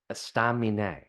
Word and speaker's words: Estaminet: Yeah, Estaminet.